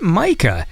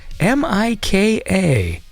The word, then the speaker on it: Mika: I'm second guessing myself well M Maple that's how we pronounce that artist m m i k a okay so I'm going to say Mika Thor wine and I've